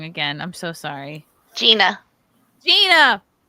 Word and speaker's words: Jeanna: about this hi J hello I'm saying your name wrong again I'm so sorry Gina Gina how's it going Gina